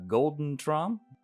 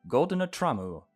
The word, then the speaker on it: GoldenerTraum: All right, everybody, that's going to be it for Pocket Mirror GoldeneTraum. GoldenerTraum. I want me to pronounce it in Japanese, even though it's not.